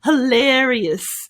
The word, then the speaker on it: hilarious: Hilarious. The pronunciation of this is lair, us, hilarious, hilarious.